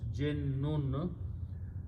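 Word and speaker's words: جن: we say Jin but there is a sh so it should be pronounced with two NOS Jin and when you put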